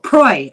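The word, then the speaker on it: Proulx: how um any um I can never pronounce her last name p r o u LX Pro proy I think yes Annie yeah Shipping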